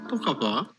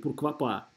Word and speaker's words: pourquoi pas: Будьте внимательны, это надо правильно произносить. То есть здесь, с одной стороны, не pourquoi, с другой стороны, не «пуркуа». То есть это не как в «Трех мушкетерах» должно быть «пурквапа». «Пурквапа», «пурквапа». Там нет «в».